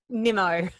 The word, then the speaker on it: Nimmo: And so today I get to bring to you an Australian woman, and her name is Nimmo. Did I say it right? Nimmo.